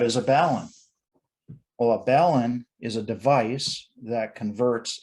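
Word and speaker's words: balun: antenna so what is a balance well a ballon is a device that converts a balanced circuit to an unbalanced circuit so it's not pronounced balon because you don't see it balanced at least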